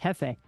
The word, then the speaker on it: Jefe: Espanol pronunciation would be Jefe.